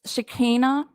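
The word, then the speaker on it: Shekinah: the public it's um just a little correction Katie Joy it's shikina okay you would think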